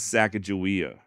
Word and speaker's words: Sacagawea: evidence does point to Saka jaia being shishoni and modern day shishoni do say her name as sakaia look in all reality